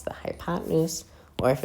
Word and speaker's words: hypotenuse: This is known as a length called the hypotenuse which is spelled as follows. So it's h y p o t e n u s e pronounced hypotenuse.